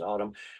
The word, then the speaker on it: ATUM: It's called Autumn. It's ATUM is how it's spelled. It's pronounced Autumn.